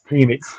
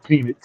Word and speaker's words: Penix: If we draft Michael Penix, okay. Penix. I got to make sure I say his name right. Penix.